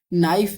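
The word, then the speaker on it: knife: नाइफ में के silent होता है। आप देख सकते हैं नाइफ पढ़ रहे हैं।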